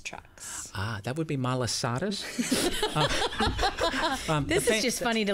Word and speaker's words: malasadas: Shrimp trucks or Masaladas trucks? That would be malasadas. This is just funny to listen to us pronounce these In words.